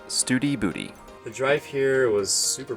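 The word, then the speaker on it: Study Butte: to studybuddy or as kara likes to say steady butt spell b-u-t-t-e turns out we were both wrong it's pronounced studi booty the drive here was super pretty it was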